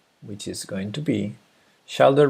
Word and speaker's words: shoulder: is going to be shoulder rhymes with folder so it's shoulder not not shoulder it's shoulder okay let's put